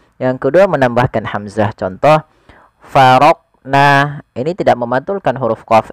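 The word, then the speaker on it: فرقنا: Yang kedua, farq. Nah, ada menambahkan hamzah setelah huruf qof itu menjadi faroq. Nah, harusnya langsung saja faroqna. farqna ya mengalir dia huruf qof-nya sesuai dengan makhrajnya.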